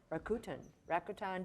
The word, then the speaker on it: Rakuten: But wasn't there an entire campaign about how to pronounce it? Rakuten. Does anybody remember that? They did. They had a Super Bowl ad. How do you pronounce Rakuten. it? Rakuten.